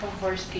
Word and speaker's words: Pohorsky: Pohorsky, just like it sounds. You can do it, Bah, B-A-H, yeah. Horsky, O-R-S-K-I. Oh, that's, It might be a letter or two off, but that's how you pronounce it, so.